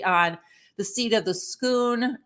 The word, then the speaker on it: Scone: the seat of the schoon that looks like scone but they pronounce it schoon it's Scottish whole story behind that